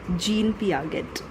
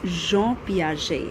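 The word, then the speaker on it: Piaget: that they call or they pronounce his name as Gan Paget okay so it's not that it's Jean Pi I've written it also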